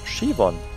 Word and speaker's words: Siobhan: Das spricht man Shivon. Oh Gott, ich spreche es komplett falsch aus. Was? Siob ist Shi. Shivon. Shivon. Das B ist ja überhaupt nicht irgendwo. Das ist ganz stumm.